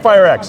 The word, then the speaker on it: eFireX: He's the VP of Global Sales here at eFireX. Did I pronounce that Yeah, right? eFireX.